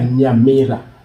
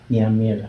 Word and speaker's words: Nyamira: And that was in Nyamira? Is that how you say it? Pardon? Yeah, Nyamira. Nyamira.